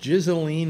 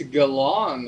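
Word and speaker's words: Ghislaine: but uh yeah um is it pronounced jizzling maxwell it's galon according to that jeffrey epstein documentary on okay yeah because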